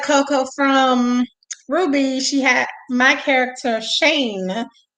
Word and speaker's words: RWBY: turned me on to called Ruby, which is spelled WRWBY, and as a character named Coco.